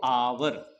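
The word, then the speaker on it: hour: आवाज को ध्यान देना इसको हम पढ़ते हैं आवर एच होता है साइलेंट ठीक है तो आवर तो आवर आया ठीक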